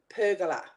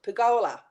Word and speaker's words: pergola: there to talking about pergola pergola that's all I kept hearing and I said to it can we please turn the TV off because in Australia we pronounce it pagola and it just drove